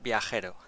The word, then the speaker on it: Vero: to do is to start pronouncing my name correctly mate it's Vero ver good enough i hope